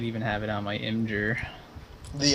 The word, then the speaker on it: Imgur: Might even have it on my Imgur. The Imager. The Imager. Imgur. Imgur. People pronounce that in different ways, like Imgur, Imgur.